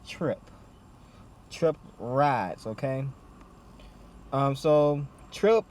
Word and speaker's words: Tryp: So, how do you say Tryp? Just like I said, just Tryp.